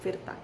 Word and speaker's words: Virta: myself my name is fierta that's v i rta ferta yeah so my name is indonesian and if you want